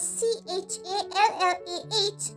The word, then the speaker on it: challah: The next type of bread is spelled out as C-H-A-L-L-A-H.